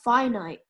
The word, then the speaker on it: finite: And because wealth was finite, meant that if one state gained something, another one lost. So that is why. It's pronounced finite.